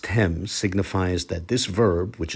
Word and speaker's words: תם: The last two characters, the tau mem, pronounced tem, signifies that this verb, which is in the perfect tense, is in the second person plural.